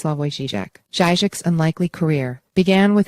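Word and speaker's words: Slavoj Žižek: into slovenia's most famous son philosopher Slava jijic pronounced slavoy zijak jijic's unlikely career began with impenetrable tomes interpreting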